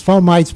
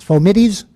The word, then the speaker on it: fomites: Every medical student learns to pronounce this fomites, but a few years ago a student in this class told me the word is in fact pronounced fomites, and I looked it up and she was correct.